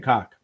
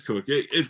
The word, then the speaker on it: Cook: Is it pronounced Coke? Because I've been saying cock. Yeah, it is Cook.